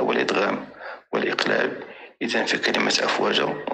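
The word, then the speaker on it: أفواجا: اذا في كلمه افواجا تنطق بالف ممدوده وليست افواجا كما القهوه، وغادي نسميه مصدر عوض والف ماديه لانها في حاله وقف.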